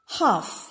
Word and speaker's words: half: letter i is silent half half the letter l is silent the sound of which